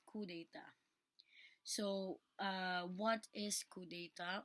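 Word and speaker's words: coup d'état: crime of cou data it is spelled as coup d'etat but that is read as coup data so uh what is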